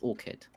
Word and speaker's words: orchid: Now it's it's fine to say ch as it's orchards if it's talking about like gardens of trees or whatever. But if you're talking about the flower, which is spelled slightly different, it's orchid.